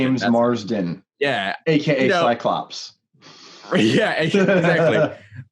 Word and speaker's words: James Marsden: James Marsden. James Marsden.